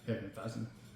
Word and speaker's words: Hefeweizen: Hefeweizen?